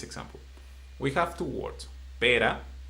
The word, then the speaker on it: pera: So, if you don't pronounce well the R in this word, you will confuse from a fruit to a bad word.